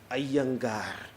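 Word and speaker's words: Iyengar: so I came to know that the correct pronunciation is a younga that's the correct pronunciation in South India I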